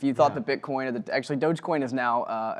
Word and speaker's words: Dogecoin: official pronouncing on that i think it's dogecoin i've always been told dogecoin i i i could be wrong but that's what i've always done with it dogecoin